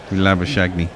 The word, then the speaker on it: Labuschagne: It's La, as in lager, Booze, as in booze, Kak, as in cack. Shit, I guess. Labu Kak Ni, as in Neesham. Labuschagne.